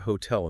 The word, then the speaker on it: hotel: Why is the stress on the end of hotel in the first place? In English, two syllable nouns are almost always stressed on the first syllable. Think of water, butter, table, apple. Why is it hotel?